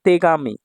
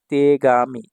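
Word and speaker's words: 手紙: দেখুন তারপরে যে কাঞ্জিটা এটা হল তে তে হাত আর এটা হল কামির কাঞ্জি পেপার না এটাকে আবার গামিও বলা হয় তো দেখুন তেগামি তেগামি তেগামি অর্থ হচ্ছে চিঠি ঠিক আছে?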